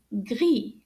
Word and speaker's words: gris: we say gray is gri now notice that the s is silent we do not pronounce the s at the end so let's try that